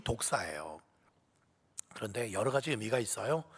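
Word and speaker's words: δόξα: 영광이라는 단어가요, 헬라어로는 독사라는 단어예요. 뭐 살모사, 뭐 그런 독사를 말하는 게 아니고요, 발음이 독사예요.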